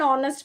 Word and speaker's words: honest: bye an honest ah honest and honest foreign is not pronounced at the silent letter an honest boy buddha